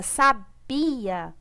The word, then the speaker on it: sabia: por causa disso tá bom então a palavra sabia ou quando o be é a sílaba tônica é a sílaba mais forte tá